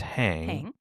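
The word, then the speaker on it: Hein: His name is pronounced Hang but it's spelled Hine H E I N.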